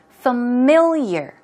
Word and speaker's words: familiar: synonyms for familiar now keep in mind it's three syllables stress goes right there it's the middle year the wise sound okay let's try two more times familiar familiar good job moving